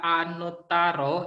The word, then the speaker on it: anuttaro: Ini anuttaro, Ada T-nya 2 dibaca Anutaro.